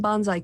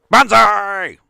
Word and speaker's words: banzai: and i used some bonsai clips you did indeed although again i will ask you to pronounce it correctly banzai yes uh thank you